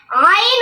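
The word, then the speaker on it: ع: আলিফ টেনে পড়তে হবে হলকের মধ্যখান হইতে আইন উচ্চারিত হয় হরফটি একটু সবল হবে বাতাস বন্ধ করে উচ্চারণ করতে হবে আইন হরফটি পাতলা হবে আইন বেশি শক্ত নয় নরমও নয় মাঝামাঝি আদায় করতে হবে আইন হরফ তিন আলিফ টেনে বসতে হবে আইন হলকের শেষ হইতে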